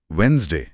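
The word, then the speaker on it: Wednesday: एक बहुत common spelling error जो नोट्स में दिया है वो है वेडनेसडे। अच्छा वही जिसमें डी साइलेंट होता है वेडनेसडे।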